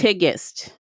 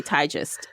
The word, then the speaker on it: Tigest: how to pronounce things and that's why I pronounced her name okay tigest because that's how she said it is she said it okay tigest and my instinct was to say tigist but it's tiest okay kadan is how you